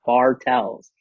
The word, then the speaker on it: Bartels: and then I put a space, and I was like Tells TELLS, like Bartels.